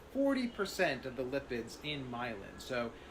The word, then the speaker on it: myelin: Human brain mass is made up of a substance called milm is 100% made up of cholesterol. So, it's actually pronounced myelin with an N at the end, not myelin is composed of 80% lipids or fats and 20% protein.